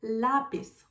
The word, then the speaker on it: lápiz: And I have another example, lápiz, pencil, lápiz. Lápiz has two syllables. Lápiz. The first syllable is pis, the second syllable is la. And the stronger sound is lápiz, is the second one.